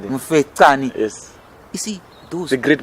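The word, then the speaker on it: Mfecane: Mufetani, Difetani, what's the pronunciation? Mufetani.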